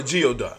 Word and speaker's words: geoduck: that's not hot spell it's called a geoduck it sound like G it but it's not spelled like that you're I'm saying geoduck